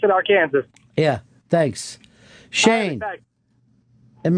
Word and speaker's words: Arkansas: So Oregon's not the only one that gets mispronounced. Well, now where do you live? Now I live in Arkansas. Oh, Arkansas. That's fantastic. Yeah, I was just gonna say, or they pronounce it Arkansas, or I should pronounce it Arkansas.